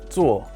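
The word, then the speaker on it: 坐: very common in asian countries this character is pronounced tsuo which means sit it is used in this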